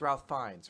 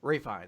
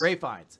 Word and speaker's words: Ralph Fiennes: It's Ralph Fiennes, right? I guess. Ray Fiennes. Yes. Ray Fiennes.